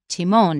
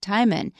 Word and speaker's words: Timon: little clip from the movie they'll probably mention Timone not timman so that's one thing I said there were